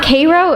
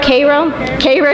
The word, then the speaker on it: Cairo: Also breaking a color barrier as the first black physician to open a practice in her hometown of, it's not pronounced Cairo, is it Cairo? Cairo, Georgia.